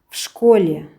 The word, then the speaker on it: в школе: В школе в-ны ф ғып оқимыз.